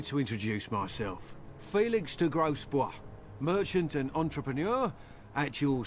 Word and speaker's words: Grosbois: Felix de Grosbois, merchant and entrepreneur at your service. It's spelled gross, boys. I'm Warden.